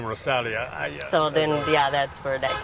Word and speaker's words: Rozalia: So that's another thing that people, because the Z is pronounced like an S. So it's Rozalia is, at Rozalia for Instagram.